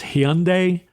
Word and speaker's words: Hyundai: It's Hyundai, the car company.